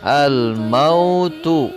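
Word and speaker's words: الْمَوْت: Ditulisnya al-mautu. Al-mautu. Maka ketika wakaf atau berhenti membaca, maka dibacanya jadi al-maut.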